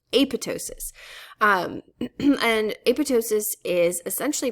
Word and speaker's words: apoptosis: by cell signaling and this process is called apotosis it's spelled apoptosis uh but the first p is actually silent it's pronounced AP sorry the second um p is silent it's pronounced apotosis um and apotosis is essentially programmed cell death